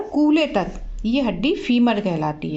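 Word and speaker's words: femur: का क्या नाम है तो इसका नाम है फीमर आधुनिक क्लास में क्वेश्चन भी किया था तो बच्चे गुस्सा ही बता रहे थे फॉर्मर होता है FD एम यूअर इसकी स्पेलिंग होती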